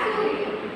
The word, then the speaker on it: सूर्य: तो किसी अक्षर के ऊपर अर्ध र लगाने से अक्षर से पहले आधे र का उच्चारण ध्वनि के साथ होता है, किसी उच्चारण के बाद वाले अक्षर में लगाया जाता है।